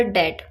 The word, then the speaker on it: debt: She paid all हर डेट, she paid all हर डेट। तो डेट का मतलब होता है उधार और इसमें बी साइलेंट होता है, ध्यान रखिएगा, ये भी बहुत कॉमन वर्ड है।